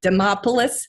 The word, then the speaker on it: Demopolis: up in dama and let me pronounce this right jim you tell me if i'm saying this right demopolis alabama is that correct that's exactly right my phone number was